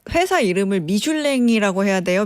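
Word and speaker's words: Michelin: 그러니까 정확하게 프랑스어로는 미슐랭이 맞고요. 네. 이게 왜 미쉐린이라 불리냐? 이게 바로 미국 진출에서 시작됐습니다. 이게 미국 참 발음이군요. 호카랑 닮아 있는데 호카도 미국 진출을 위해서 회사를 매각하지 않았습니까? 이들 역시 미국을 가야지 자동차의 본고장에서 더 많이 팔 수 있다라고 생각해서 미국 진출했고요. 미국식 발음, 미국에서는 이거를 미쉐린이라고 부른 겁니다.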